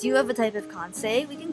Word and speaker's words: Kansei: Oh, it's Kansei! I said it wrong.